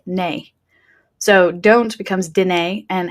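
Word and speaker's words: nae: Now, the negative contraction is spelled N-A-E because that's how they say it, nay.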